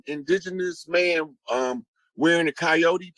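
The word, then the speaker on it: Kiote: spelled that way and it sounds like coyote or coyote but it's a tribe it's not the animal so when they did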